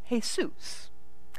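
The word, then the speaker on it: Jesús: spelled the same way we spell Jesus, but pronounced Jesus.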